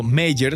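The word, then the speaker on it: Mayer: En inglés, el apellido mayor suena igual que mayor, lo que hace que la mente rellene automáticamente el nombre con la versión más común o intuitiva.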